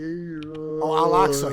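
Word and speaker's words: Al-Aqsa: Is that how do you pronounce it? Elastic mosque. Oh, Alaxa.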